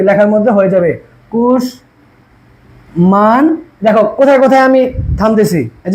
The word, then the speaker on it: কুষ্মাণ্ড: মফলা সাথে সাথেই কি লেখার মধ্যে হয়ে যাবে, কুশ মান। দেখো কোথায় কোথায় আমি থামতেছি, এই যে কুশ মান দো, কুষ্মাণ্ড, ঠিক আছে?